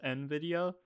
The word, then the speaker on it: Nvidia: Do you call Novideo or Nvidia? Nvidia. Novidia. I've heard it's supposed to be pronounced Nvidia, but I pronounce it no video cuz American uh bad GPU company.